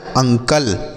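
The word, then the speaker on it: uncle: में आ क्या आगे यू एन सी एल ई तो यू से उच्चारण होगा अ एन से आधा न सी से पढ़ेंगे क एल ई से ल ये लिखा गया अंकल उसके बाद यू एम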